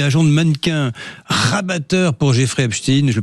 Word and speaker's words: Jeffrey Epstein: Les secrets de la filière française nous évoquant le portrait de Jean-Luc Brunet, agent de mannequin rabatteur pour Jeffreystein, je le prononce à l'anglaise, à l'américaine et lui-même violeur.